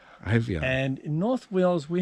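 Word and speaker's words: Eifion: My name is Ivion, and it's spelt E-I-F-I-O-N. Ivion.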